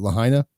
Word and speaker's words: Lahaina: Is it Lahaina? Yeah, Lahaina. That's how it's pronounced.